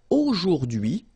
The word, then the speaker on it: aujourd'hui: H is not pronounced, so you only get this d'hui thing.